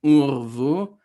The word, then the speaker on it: urvu: But there's another rule where another instance where a shava turns into an u sound, right? Where the v turns into u, and that's shown here in urvu.